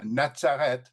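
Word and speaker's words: נצרת: In other words, Jesus went down with them with his parents and came to Nataret, pronouncing it in Hebrew here, was subject unto them.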